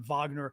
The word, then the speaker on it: Wagner: Right, because Bakhmut is the town that they just these Wagner Group, Wagner, but they pronounce it in Russian Wagner, so it's the name that's used internationally.